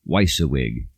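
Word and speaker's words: WYSIWYG: big deal for a computer program to be weissa wig I don't even hear that term anymore because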